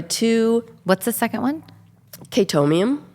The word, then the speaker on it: Chaetomium: Um, which it doesn't even have to be black, but it is that and Chaetomium are the two What's the second one? Chaetomium. How do you spell that?